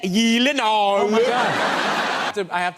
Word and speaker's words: Gyllenhaal: It is actually Gyllenhaal. The only two places that is pronounced correctly, my last name, like you did just now, is in Sweden and in IKEA.